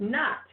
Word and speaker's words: knot: because the K in OT of course is pronounced not let me tell you once again folks this